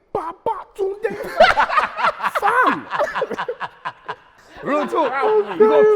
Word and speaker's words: Babatunde: And with each syllable, Babatunde.